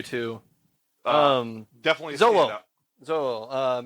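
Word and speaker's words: Xolo: Zodal? No, it's not Zodal.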